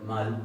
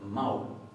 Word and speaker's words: mál: Esto lo que está diciendo es que esto no se va a pronunciar mal, sino que se va a pronunciar maul.